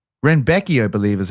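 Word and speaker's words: Rębecki: And I just texted a lad who speaks Polish today, and I said, please tell me how to say his name. And he said it was Renbecki.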